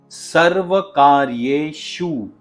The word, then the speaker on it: सर्वकार्येशु: और यह जो श का साउंड है उसे हम तालव्य श या फिर पलातल स भी कहते हैं। और इस श को एस्टैब्लिश करने के लिए या इस साउंड को लाने के लिए आपको अपनी जीभ को थोड़ा सा रोल करके ऊपर की पैेट की ओर जिसे हम बोलते हैं ऊपर के तालू की तरफ लेकर जाना पड़ेगा। और इसकी प्रैक्टिस बहुत ही जरूरी है।